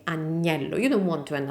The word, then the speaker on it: agnello: This second one, the one with the G, is lamb, agnello, and it's pronounced like a gnocchi, agnello, gnocchi.